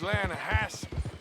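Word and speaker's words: Lannahechee: rolled down to the Lana Hetchy river I caught some beautiful steelhead trout you mean the Lana hash no no the lana hatch it runs right near here yeah but it's pronounced Lana Hass why is everything in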